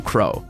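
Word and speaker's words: Qrow: learned it from her uncle crow like crow but spelled with a q ruby tells the two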